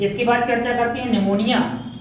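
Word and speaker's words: pneumonia: कि इसकी बात करते-करते निमोनिया निमोनिया इस पीछे पी साइलेंट रहता फिर शुरू करते हैं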